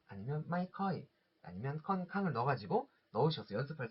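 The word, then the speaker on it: ค่อนข้าง: 그리고 또 컨캉 하실 때도 컨캉 여기 아니라 요것도 짧게 읽으셔야 됩니다.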